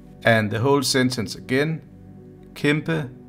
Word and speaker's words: kæmpe: I'm going to take them word by word in syllables. So the first word is kæmpe, kæmpe, and then the word kæmpe.